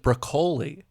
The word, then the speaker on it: Broccoli: great by the way I always thought it was broccoli I heard someone pronounce it broli and I'm like the